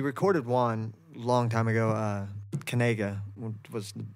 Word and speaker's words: Kanaga: like, nobody Fan will Kanaga. Be able to pronounce it. Everyone was like, Kanga's, nobody could, yeah, Kanga rules. Everybody would pronounce it wrong.